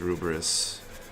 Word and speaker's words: Lfrith: gets a wonky translation it's pronounced almost as Rumors in the show but spelled Air Force somehow I think it's a dude with the way sounds are romanized the the Katakana actually says rubris on the box but